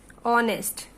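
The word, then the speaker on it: honest: यहां vowel sound की बात हो रही है तो लाइक ये एच है, ऑनेस्ट, ऑनेस्ट पर्सन. तो ये एच से शुरू हो रहा है लेकिन इसमें एच क्या है? साइलेंट है.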